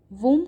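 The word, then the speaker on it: womb: वूम का मतलब होता है कोख और इसे वूम कहते हैं. इसमें बी साइलेंट होता है.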